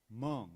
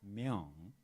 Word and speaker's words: Myung: And Barbara Jordan, she pronounced my name like Mung, not Myung.